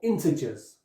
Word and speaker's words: integers: numbers whole numbers or integers so in this case the G is a soft G integers and of course whole